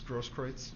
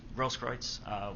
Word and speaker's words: Grosskreutz: I'm not sure how you pronounce his last name, Gage. I believe it's Grosskreutz. Grosskreutz.